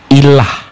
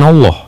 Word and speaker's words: ilah: Ini kita bacanya, Bang. Ilah bukan Allah. Ilah. Ilah itu proper name atau ee ilah itu jabatan atau Tuhan.